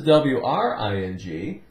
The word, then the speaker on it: wring: perhaps you have a ring on your finger perhaps you hear a telephone ringing but this is WRI gee it's the same sound ring because W is silent but it means -